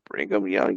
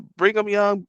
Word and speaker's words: Brigham Young: last like years so I think it was Brigham Young University in Utah I'm trying to research it right now bring them young universe it's BYU it's a Brigham Young bring them young bring them y'all don't sound